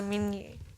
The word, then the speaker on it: Minier: Also es ist ein französischer Nachname, also Minier. Finde ich auch mega schöne Aussprache.